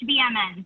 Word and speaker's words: HVMN: It's HVMN, so it's just the acronym Health via Modern Nutrition. So pretty straightforward there.